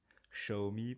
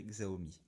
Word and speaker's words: Xiaomi: Xiaomi pour ceux qui veulent prononcer à la chinoise, moi je dirais Xiaomi.